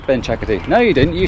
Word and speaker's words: Benchakitti: I don't know if that's the right pronunciation. I always pronounce things wrong and people go, oh, you mean Benchakitti? And I just said Benchakitti. So it's a little distinct tone that you have to get right.